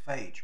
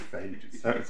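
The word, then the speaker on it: Fage: was just I've been educated on how to pronounce the name is I've always thought it was phage but anyway there we are we'll go with failure isn't it um paragraph 45 makes the point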